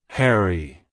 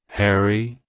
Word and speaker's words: Harry: hory it's pronounced as Harry Harry Harry to pronounce it correctly emphasize the first syllable hair and then add a quick e e sound at the end like hello Harry goodbye